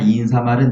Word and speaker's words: 인사말: 훈잣말 시체말은 니은 발음이 나는데 머리말 인사말은 니은 발음을 내지 말라. 근데 99%의 사람들은 머릿말 인산말이라고 표현하고 있지.